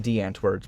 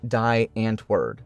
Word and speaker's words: Die Antwoord: The group's name, if pronounced as spelt by an English person, would probably sound something like Die Antwoord. Being an Afrikaans word, it is pronounced Die Antwoord, and that was Eminem's singular crime.